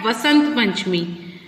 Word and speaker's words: Vasant Panchami: Then we have Basant Panchami, which is also called Vasant Panchami. V or B both are correct pronunciations, and on this day we worship goddess Saraswati.